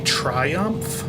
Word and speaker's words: Triumph: pronounce my flight right it's supposed to be Triumph like triumphant Air Canada 5 68